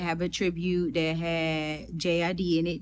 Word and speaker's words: JID: Outkast was inducted, and they did have a tribute that had J.I.D. in it. Jid, that's how you say his name, J.I.D.